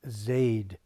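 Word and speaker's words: זֵד: It's Zaid, pronounced Zaid.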